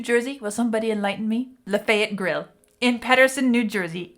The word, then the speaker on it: Lafayette: We have a town, Lafayette. That is truly how we pronounce it. And if anybody dares to try to call it Lafayette, then they are laughed at as a non-local.